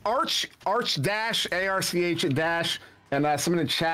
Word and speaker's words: Arch: there's a there's an old metal band called arch enemy but there was a long-standing fight if